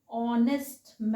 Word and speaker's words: honest: क्या है right pronunciation, an honest man।